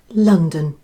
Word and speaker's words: London: London. Yes, that's the way we say it here. Once again, the first vowel, O, which is stressed, is pronounced ah, and the last O is the unstressed vowel and sounds like ah.